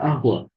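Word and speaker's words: قهوة: wala ahwa syai wala tetap tulisannya kohwa tapi dibacanya ya wala ahwa Uli agib lak syai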